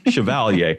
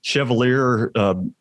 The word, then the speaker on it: Chevalier: And my last name, like it's very, very few people can pronounce it right. It's Chevalier. Most of the time they're like Chevalier.